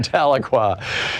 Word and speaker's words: Tahlequah: It only took you about 10 years, but you learned to pronounce Tahlequah, Oklahoma. And I'd like to say hello to Bob in Tahlequah, Oklahoma. Hey to Bob in Tahlequah from Patty in Claremore.